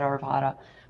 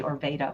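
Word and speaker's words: Arvada: It's said Arvvada, but a lot of people will say Orveda or Arvvada, but it's Orvat here.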